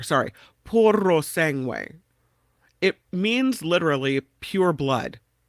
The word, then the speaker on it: Puro Sangue: Oh, you have to roll the R. Sorry. Puro Sangue.